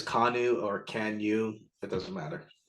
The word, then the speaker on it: Kanu: it's my role then kanu is what we'll call it like like the boat yeah like you could say that it's kanu or kanu that doesn't